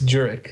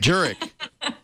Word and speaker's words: Djuric: Sorry, it's Djuric. Djuric. I'm sorry. Djuric. It's easy. Simple. It's just like it's spelled.